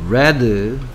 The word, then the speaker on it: read: 이 녀석은 발음이 read. 그렇죠. red. red라고 발음이 바뀝니다.